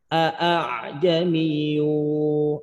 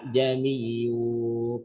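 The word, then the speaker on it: أَعْجَمِيٌّ: Maka cara bacanya modelnya kayak tadi. Bukan dibaca tapi jamiyu, kagak jelas hamzahnya.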